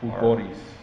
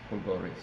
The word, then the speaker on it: Fulgoris: Fulgoris. Fulgoris. Yeah. Got to roll the R. Fulgoris.